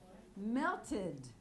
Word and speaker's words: melted: Melted. The final sound is a T, so we add a syllable.